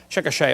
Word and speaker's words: Chickasha: 2005 textbook, and I pronounced it wrong as Chickasha, not Chickasha, Chickasha, Oklahoma.